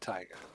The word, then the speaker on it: taiga: water it's frozen again we're in the tega taiga she pronounces it tiger so we're in the